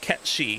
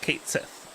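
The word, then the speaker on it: Cait Sith: That although we were the inspiration for that character, and it is pronounced Ketchi. It is not pronounced Kate Sith, unlike what Square Enix has decided to say.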